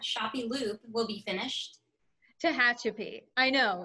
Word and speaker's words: Tehachapi: of the layout that includes the um might mispronounce this how that shoppie loop will be finished tehachapi i know it's it's strange i i had